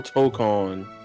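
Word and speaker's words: Tōkon: Like to token what are we calling what's official pronunciation? It's Marvel TCON.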